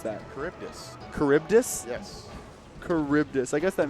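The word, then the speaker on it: Charybdis: Charis I've never once figured out how to pronounce that cibus caribdis yes caribdis I guess that makes sense the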